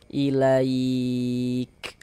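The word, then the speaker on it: إليك: Jadi kalau huruf kaf sukun cara bacanya itu seperti ini. Ilaik. Hah. Jadi ada nafas yang mengalir ketika kita mengucapkannya seperti memerecik ilaik.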